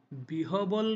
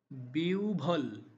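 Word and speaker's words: বিহ্বল: এরপরের যে শব্দটি রয়েছে সেটার উচ্চারণ কিন্তু বিহবল নয় বরং বিউভল বিউল হর উচ্চারণ ওর মত হবে বিউভল কারণ সূত্র হলো হর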